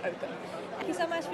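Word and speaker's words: Opn: smell though in that's correct yes OPM but pronounced open thank you so much for your time today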